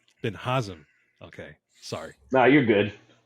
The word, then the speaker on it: Binhazim: good buddy bin bin hazim is that how you pronounce it no but nice try I like it all right how do you pronounce your last name B sorry Ben haam okay sorry no you're